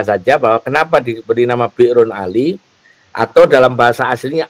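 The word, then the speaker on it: بئر: Kita nyebutnya selama ini miqatnya di bir bacanya bir brun ali tapi karena bahasa Arab ada hamzah yang disukun itu bacanya bir.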